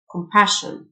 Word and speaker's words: compassion: and antonyms تعاطف compassion ال SSIO تنطق شه compassion sympathy ال TH تنطق